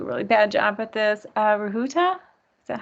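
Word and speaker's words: Rujuta: Rahuta, is that how you pronounce that? R-U-J-U-T-A? Yeah, Rajuta.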